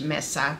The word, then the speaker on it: mesa: And I'm saying it in Spanish, mesa, but you know, if you don't speak Spanish, you probably pronounce it mesa. I think Tony Lipsy, who is the designer of this hat, pronounces it mesa. Either is fine.